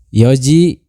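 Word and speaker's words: 四時: Kemudian kesa tadi pagi, hiru siang, yoji jam 4, shichiji jam 7, kuji jam 9. Nah, untuk selain dari 3 jam di sini, pengucapannya itu seperti biasa ya. Maksudnya gimana? Seperti misalkan jam 1 ichiji, jam 2 niji, hanya tinggal kita tambahkan huruf ji saja ya.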